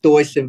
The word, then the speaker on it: Deussen: family that's why we're we're half German that's that's the reason why it's actually pronounced Dyson but the way Jordan